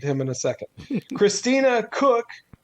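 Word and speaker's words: Koch: Christina Cook, you pronounce her last name Cook, apparently.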